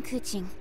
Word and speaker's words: Keqing: in uh she'll say her name i am kuching kuching so i have been saying her name